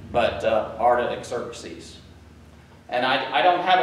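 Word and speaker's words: Artaxerxes: to the king um Arta exercies Mary was reminding me uh that her little trick is is it it's like artichoke but uh ARA exercies and I I don't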